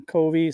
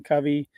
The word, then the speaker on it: Covey: This is something that Stephen Kovi, Stephen Covey, depending how you pronounce it, he spoke about